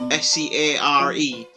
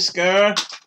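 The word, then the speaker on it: Sker: And I know it sounds like I'm saying it weird. It's not M-A-D-E of S-C-A-R-E. It's M-A-I-D of S-K-E-R. So I'm assuming it's pronounced Scare.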